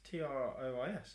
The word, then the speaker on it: Troyes: That's Trois, isn't it? That's Trois. T-R-O-Y-E-S. That's 3. This is a place called Trois. Trois, but it's spelt Troyes.